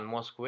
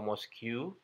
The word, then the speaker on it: mosque: mosque, mosque, Jadi bukan Moscow atau Mosque, tapi hanya mosque, mosque, mosque.